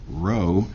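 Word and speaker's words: rho: the how far but row this Greek letter called row pronounced row uh says how far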